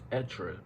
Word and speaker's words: être: to learn first is extra is the verb to be in French it's also hard to pronounce so you could also pronounce it as etra if you know if you struggle with that R which I know uh